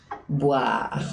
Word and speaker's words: boire: Y en francés la pronunciación adecuada de la V o B cambia, porque no es lo mismo voir que boire.